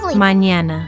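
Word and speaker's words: mañana: Mñana.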